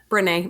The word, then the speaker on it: Brené: Is that how you say her name? Brené. Mm-hmm. Right.